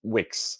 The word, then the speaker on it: Wix: about a backstory there to pronounce the name is just Wix our first robot doesn't have a name doesn't care about names doesn't need a name uh but it's written w-i-x so what X or